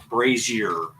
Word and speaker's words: brazier: by putting it into a a bra uh, brazer is that how you say it? I don't know. You know those burning Oh, brazer. Yeah. Yeah. Brazer. Brazier.